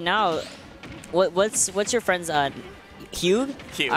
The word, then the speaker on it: Hugh: But right now, what's your friend's Hugh? Hugh. All right. Hugh. Yeah. Hugh. Yeah, like H-U-E would be okay. How you pronounce it.